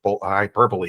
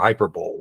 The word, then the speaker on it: hyperbole: I was like why the hell is it pronounced hyper hyperbole instead of hyperb like so anyway that's you know but yes